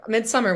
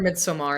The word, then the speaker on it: Midsommar: Midsummer was just too, or Midsommar, is that the right way to pronounce it? Yeah, That one was too